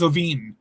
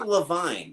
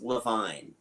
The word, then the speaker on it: Iovine: um just introductions by uh who is James Iovine? I would have been perfectly happy with that. Yeah. It's actually Levine. I actually looked him up. Oh, wow. It is actually pronounced Levine.